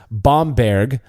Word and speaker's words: Bamberg: on Ral versus Rous also the city is pronounced bomberg uh cringe itch quell he says thank you